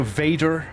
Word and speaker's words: Vader: So Vader. I need to enunciate the V a little more. Vader. Vader, not waiter.